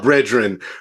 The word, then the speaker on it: BREADren: media at Breen pod that's Breen spelled like bread b r e a d like bread because we always talking about bread we always getting bread Breen pod Breen podcast